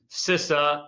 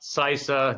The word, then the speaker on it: CISA: And so phonetically it was determined that we will call it sisa not cisa not cisa but sisa even though there's only one s interesting I so